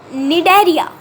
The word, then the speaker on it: Cnidaria: It is the Cnidaria or Coleoptera. C is silent here.